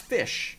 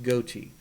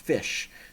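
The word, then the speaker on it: ghoti: dot IO it's pronounced fish dot IO and uh if you don't believe me uh there is a look up the Wikipedia page for the word g-h-o-t-i it's not pronounced goatee it's pronounced fish and uh it's a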